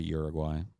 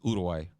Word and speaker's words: Uruguay: started on working towards moving to Uruguay or sorry udai that's the that's the correct pronunciation it's udai uh Paul I am